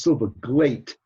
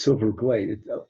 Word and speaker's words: Silverglate: okay first of all my name is pronounced silva glate that's because it ends with an e and so it's silver glade everybody mispronounces it in one way or another my apologies sir no